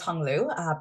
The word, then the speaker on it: Huong Luu: My name's Huong Luu, pronounced like Hong Kong.